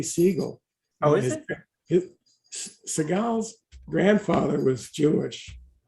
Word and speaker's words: Seagal: frank ducks and uh frank would intentionally mispronounce seagal's last name he would call him steve siegel which is his real last name it's really siegel oh seagal's grandfather was